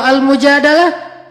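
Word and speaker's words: al-Mujadalah: perempuan yang curhat kalau almujadalah curhat Jadi tergantung kita bacanya Dilah atau dalah kalau kita baca Mujadilah berarti perempuan yang lagi cur curhat kalau kita baca adalah berarti curhat itu sendiri surat almujadalah berkisah tentang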